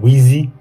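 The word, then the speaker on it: Weezy: That's where my nickname originally comes from, Wheezy. W-E-E-Z-Y. I see a lot of people pronounce it wrong, or some people when they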